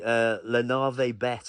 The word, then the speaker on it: Navet: Yeah, and this company, Navet, have I pronounced that right?